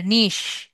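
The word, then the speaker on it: niche: না, ইয়ে, এটা নাইস না, নিশ।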